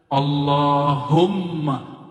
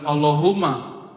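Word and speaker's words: اللهم: di situ ada mimnya Allahumma Gimana cara bacanya Allahumma bukan Allahuma allahum dia mesti ditasdirkan Allah allahum ya dan dia harus men idgham ya ada rahasia di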